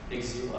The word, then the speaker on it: Exil: Exil, I prefer Exil. I don't know, it's a Czech pronunciation.